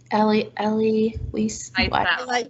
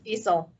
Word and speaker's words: Wiesel: Night, and I'm probably going to say the name wrong, so if somebody wants to say his name for me. Anyone? Night? Ellie Weiss? Wiesel.